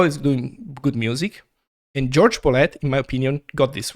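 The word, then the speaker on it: Jorge Bolet: he always used the a more Americanized pronunciation of his name. So George Bolet, is a piano player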